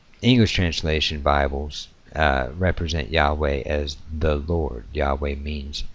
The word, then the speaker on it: Yahweh: in PR practical terms the pronunciation is probably Yahweh or something very similar and this is the